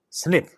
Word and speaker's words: SNP: acid in most cases asnp pronounced snip has two alternative forms